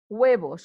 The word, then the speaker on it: huevos: Huevos, remember H, you don't pronounce huevos.